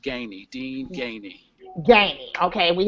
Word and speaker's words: Gainey: It's pronounced Gainey, Dene Gainey.